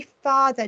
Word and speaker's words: father: So we say father, don't we? But we can hear the phoneme R, father, but we don't spell it with an AR grapheme, do we?